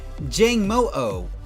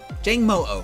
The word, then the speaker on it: Jangmo-o: is the dragon Pokemon Jangmo-o. I believe is how you pronounce its name. Not sure exactly. Jangmo-o.